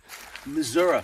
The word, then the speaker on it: Missouri: Missouri, for people who don't know how to say it.